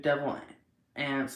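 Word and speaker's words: Devil Anse: The Hatfield and McCoy feud, Devil Ants. I hope I'm saying that wrong. Or right. Hatfield on the Kentucky-Virginia border sounds like ants. Okay, yeah, I was saying it right.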